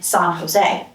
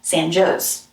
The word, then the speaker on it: San Jose: While in Spanish, a J is pronounced as an English H, resulting in San Jose, the English alternative sounds more like San Jose.